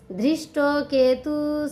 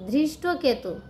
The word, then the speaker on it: ধৃষ্টকেতু: তো এই 5 নম্বর শ্লোকে বলছেন, আবার উচ্চারণটা বলছি যে ধৃষ্ট কেতু সেকিতান, ধৃষ্ট কেতু, ধৃষ্ট কেতু, ধৃষ্ট কেতু, সেকিতান, সেকিতান মানে সেকিতান।